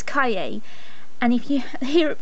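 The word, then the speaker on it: cahier: r just a little lesson for you is pronounced kaye so imagine you're saying the word well the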